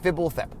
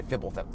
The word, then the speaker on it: Fibblethip: By the way, it's pronounced Fibblethip. So if you just kind of, there's no vowels in the homunculus' names, but in this particular one, if you just kind of assume there's eyes, anyway, Fibblethip.